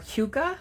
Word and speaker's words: hygge: So maybe you have heard of the term Hygge or Hygge, depending on what source you go to, how to pronounce that.